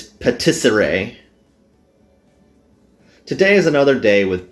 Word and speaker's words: patisserie: Oh, I figured out how to pronounce that word here. It's patisserie.